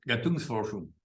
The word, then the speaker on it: Gattungsforschung: No, había en Gunkel le trae una crítica de formas que creo que alemán, usted lo pronunció Gatus, por... Gattungsforschung. Gattungsforschung. Bueno, ¿Ese alemán o...?